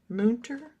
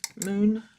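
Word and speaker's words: Münter: Mter I believe is how they said to pronounce it. Moon.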